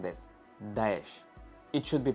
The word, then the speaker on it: Daesh: It sounds like this: Daesh. It should be pronounced disgustingly and demonstratively.